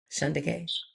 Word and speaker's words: Shunda: So, so who is and is it Shondaanda? I want to make sure I'm pronouncing your name correctly. Shand.